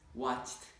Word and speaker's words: watched: W-A-T-C-H. E-D. Watched. Right. Now, you actually pronounced it a few times, you pronounced it correctly, but many times you pronounced it incorrectly.